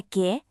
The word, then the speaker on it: que: In Spanish, that u after la que is silent.